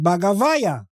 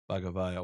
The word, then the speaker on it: Bagavaiah: and it's an Iranian, it's a Persian name, and the Iranologist would pronounce it Bagavaya. Bagavaya, wow.